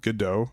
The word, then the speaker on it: Godot: However, however, there are some real parallels between the game engine I'm using, which is called Godot, or it's spelled like go.dat.